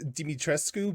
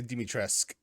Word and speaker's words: Dimitrescu: say her name again it's dimitrescu but they in the game they say dimitresk i mean could they